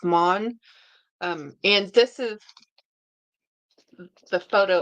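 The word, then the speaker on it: Maugham: I want to say Monheim, but it's Mon. I think it's Mon. It's just pronounced Mon.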